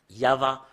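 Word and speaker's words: יהוה: On doit le prononcer comme cela. I-A-H. En fait, c'est pas faussé jusque-là. Mais depuis là, ça commence en V ou VH ou VA. Yava. Rien d'autre que ça. Et Yav, ça parle pas, mais c'est Yava qui parle.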